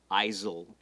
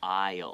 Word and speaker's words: aisle: It has an S, right? But the S is silent. So don't say aisle, right? It's aisle. Aisle.